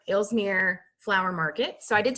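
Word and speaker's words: Aalsmeer: is the and it's it's spelled a-a-l-s-m-e-r elsmere flower market so i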